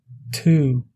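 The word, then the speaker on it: tú: On passe maintenant par la voyelle U longue qui se prononce comme le OU, mais la voyelle doit être longue, ça veut dire elle doit être prononcée de manière longue, comme dans le mot to, qui signifie tu.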